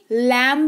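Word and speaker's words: lamb: मतलब होता है अंगूठा लैम नहीं पढ़ते हैं लैम पढ़ते हैं ठीक है एल ए एम बी लैम पढ़ते हैं यानी कि भेड़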